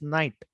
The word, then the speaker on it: knight: Horse is also called as knight. K-N-I-G-H-T, knight. Okay, K is silent, knight.